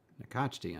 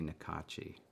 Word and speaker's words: Nakachti: Nakachti, on the other hand, I always have to think about pronouncing that because I always want to say Nakachi. And then it's like, no, there's a T in there and not where you think it is.